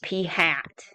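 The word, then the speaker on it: p̂: carrot key over it that's pronounced P hat look like the p is wearing a w hat and it's going to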